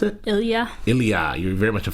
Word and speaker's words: Ilya: How do you pronounce it? Ilya.